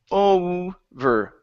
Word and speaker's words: over: good let's go to the word over instead of a it's over over over okay so